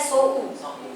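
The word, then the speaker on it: そう: Hati-hati ya, beberapa buku dia bikin so, tapi di hiragananya dia sou.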